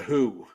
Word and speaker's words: The HU: they call themselves the Who like spelled like that still? It's pronounced No. Yeah. Yeah. It's the HU, but it's pronounced who.